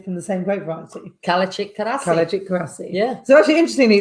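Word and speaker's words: Kalecik: Kalachik Karasi. Yeah. So actually, interestingly, in Turkish, the C is pronounced J, like a J.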